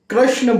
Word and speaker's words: कृष्ण: हो कर के और कोई बोलता है नहीं कृष्ण होगा कृष्ण राम होगा रामा नहीं